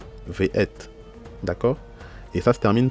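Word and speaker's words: וְאֵת: Donc ça se lit Ve'et. Ve'et. Ve'et.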